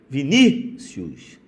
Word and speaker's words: Vinícius: Vinícius. Vinícius. Esse I é semivogal e esse U é vogal.